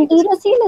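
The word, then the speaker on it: enterocele: अच्छा, that we don't call एंटीरोसील, it's called एंटेरोसील। एंटेरिक, एंटेरिक is related to gut, right?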